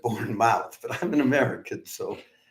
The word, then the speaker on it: Bournemouth: live stream of the borne mouth Symphony Orchestra uh I suppose a Brit would probably pronounce it born Bournemouth rather than Bourn mouth but I'm an American